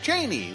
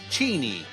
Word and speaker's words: Cheney: Now, if you believe that Fisher's zany, just ask the Lord, or Dick Cheney, that's Cheney, if you say it like Chris Matthews, that TV hardball fella.